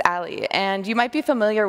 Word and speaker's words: a11y: the screen right now and this is pronounced this alley and you might be